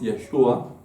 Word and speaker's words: Yeshua: Jesús es una palabra en en hebreo que su pronunciación original es Yeshua, la cual significa Jesús o perdón Jehová salva.